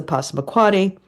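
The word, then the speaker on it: Passamaquoddy: Um okay the the largest tribe you're absolutely right is the Posmuquati. Okay. Tribe you were close in the pronunciation. Um and uh they they are the group uh the Posmquati because they were you know by far the largest group.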